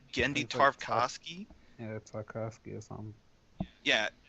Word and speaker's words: Genndy Tartakovsky: many years to think candy how do you pronounce his name genndy tartakovsky if I could give yeah I think I